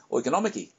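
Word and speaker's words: οικονομική: Only in Greek, it's pronounced something more like oikonomiki.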